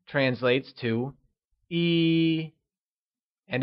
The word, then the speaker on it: yī: 1 translates to E and is pronounced with a high level tone. Can you say E?